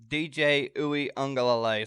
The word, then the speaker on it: Uiagalelei: But DJ Uiagalelei. Sorry, I had to make sure I got that pronunciation right.